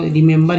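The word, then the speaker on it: remember: पहला ई जो है री बोल रहे हैं ना, पहला ई का उच्चारण ई के रूप में आया, दूसरा ई का उच्चारण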